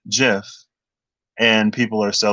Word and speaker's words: GIF: uh decided but the the person who created the gif format said that it's pronounced jif and people are still like no it's gif right it's like when